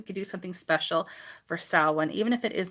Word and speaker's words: Samhain: It's pronounced Samhain, but it's spelled Samhain, but it's pronounced Samhain, which means summer's end.